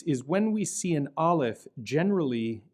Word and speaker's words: aleph: of time in antiquity, it would have had an type of sound, kind of like the way the double T is pronounced in the Scottish pronunciation of the word bottle, bottle. And forgive my poor Scottish accent, bottle. And it's a constriction of the throat. But over time, this came to be really a silent consonant, in the same